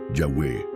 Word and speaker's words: Yahweh: como el Tetragramatón, YHWH, pero su pronunciación original no quedó completamente preservada en la tradición escrita. Muchos estudiosos consideran que una de las formas más cercanas habría sido Yahweh.